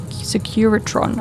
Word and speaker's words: Securitron: Oh, they spelled that wrong. I was like, have I been saying it wrong this whole time reading that they spelled it wrong? Securatron. I've been saying it right.